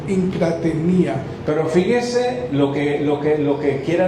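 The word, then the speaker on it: ἐγκράτεια: La palabra dominio propio, en el griego, la palabra dice que es, así se dice, se pronuncia, encrateía, así dice. So self-control is pronounced, as Pastor said, encratenía.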